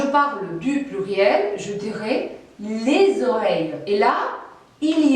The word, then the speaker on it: les oreilles: Et comme le mot oreille commence par voyelle, vous devez noter que la liaison, c'est-à-dire la prononciation du S final de l'article les, est obligatoire.